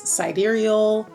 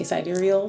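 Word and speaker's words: sidereal: and vadic astrology um also known as siderial cidal depends on how you pronounce it I say siderial so that's how we're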